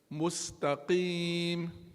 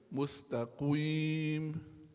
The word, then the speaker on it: مستقيم: There we have a meme with a dhamma, mu, mu. So in which position should your mouth be when pronounce that meme? Mu, mus. In which position should your mouth be? Mus. Huh? Forward circling movement, yes.